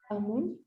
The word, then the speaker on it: Amón: Amon. Amón. Sí. Sí, no, amón. Ujú. Por el acento, o sea, no.